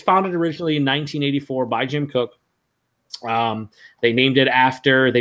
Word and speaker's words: Jim Koch: founded in 1984 by Jim cook a lot of people say Jim Koch it's actually pronounced cook they also say [